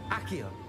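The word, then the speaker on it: Accio: Akio atau Asio ini bacanya? Akio.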